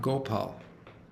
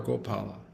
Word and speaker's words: Gopal: So, we uh named um Ghanashyam Gopal. You know. All right. And and I I told him that your name can be pronounced either Gopal or Gopala.